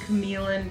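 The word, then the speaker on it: Q'emiln: Falls big beautiful Park this is called caman Park caman even though Cody really doesn't want it to be so I thre the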